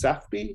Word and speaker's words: Safby: So tell us about, are we pronouncing this Safby, I guess? Yes.